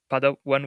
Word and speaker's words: Padawan: Padawan wallet, is that the right pronunciation?